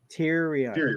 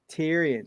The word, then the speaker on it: Tyrion: period his name is yeah Tyrion say it with me say it is syllables I don't like them teary and say with me Tyrion three syllables it's just horrible this